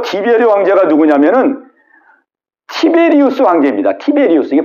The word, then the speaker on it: 티베리우스: 근데 그 세례 요한이 활동할 때가 여기 이제 누가복음 3장 1절에 보면은 디베리오 황제가 통치한 지 15해 이렇게 돼 있잖아요. 이 디베리오 황제가 누구냐면은 티베리우스 황제입니다. 티베리우스.